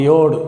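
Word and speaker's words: יוד: ஒரே சேமா இருக்கறது மாதிரி இது மாதிரி எழுதுறோம் இதைதான் யோடு அப்படின்னு உச்சரிக்கிறோம்.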